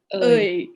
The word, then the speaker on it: Aoi: How do you pronounce her name? Ơi. Oi.